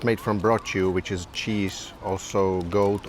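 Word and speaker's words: brocciu: here we have pion uh it's made from brchu which is cheese also goat or sheep but it's made from whey so with lemon it's really delicious actually the correct pronunciation is brch not brought you I remember that then we quickly moved to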